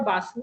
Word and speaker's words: Bose: You can say Bose or Basu. Like yeah, you can say in Bengali they say Bose as just like that.